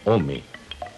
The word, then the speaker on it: ome: El numeral del año es dos, que se pronuncia ome.